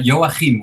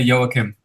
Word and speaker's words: Joachim: So we have, I'm going to pronounce this terribly, Joachim? Hi, yeah. Most people say Joachim, where I come from in the Netherlands, but you can also just say Joachim.